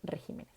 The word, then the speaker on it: regímenes: En singular, régimen, en plural, regímenes.